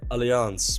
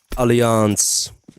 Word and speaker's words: Alliance: I'm from the Netherlands that's probably why I pronounced it aliance because that's Dutch pronunciation what map did viio